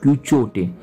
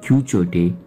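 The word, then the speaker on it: Quichotte: एट the same times छोटा सा हम नहीं जानते क्यू चोटे, स्पेलिंग में रिपीट कर रहा हूँ, क्यू यू आई सी एच O double T ई, ये भी बुक इसमें है।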